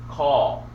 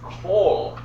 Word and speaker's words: kol: Okay, so initially, if you don't know the differences, you might think that says call. No, it's kol, because this becomes kametz hatuf. So it's an OH sound.